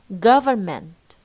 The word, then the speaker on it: government: No need for N. Government. شايفين الفا والنا ديت يا جماعة إذا syllable cancel هي syllable لوحدها خلاص باي باي. No need. هنشيل كل الكلام ده. Government. من and no final T طبعا.